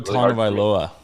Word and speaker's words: Tagovailoa: Tua Tagovailoa. There's no N, but they say you make the N sound.